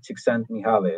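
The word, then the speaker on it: Csikszentmihalyi: The flow is a book by Mihali Chikand Mihali. I think that's the way you pronounce it.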